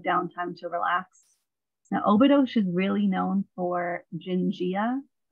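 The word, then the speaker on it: Óbidos: They pronounce their S's with a shush. So it looks like Obidos, but they say Obidos.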